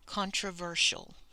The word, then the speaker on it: controversial: So we have con, that's a common syllable. Tro, contro, ver. And this one ends with the shul sound. Controversial. Ah, O, are controlled. And then this is almost the schwa sound.